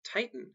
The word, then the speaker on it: titan: The root titan has stress on the first syllable. However, when the suffix ic or ic is added, the stress shifts to the second syllable, as in titanic.